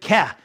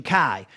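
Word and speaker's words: καί: Now, the conjunction wa, as I said before, in Greek New Testament, we have the word ke, or as Erasmus pronunciation, kai.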